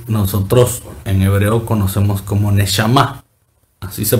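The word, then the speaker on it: נשמה: una palabra que nosotros en hebreo conocemos como neshama. Así se pronuncia, neshama.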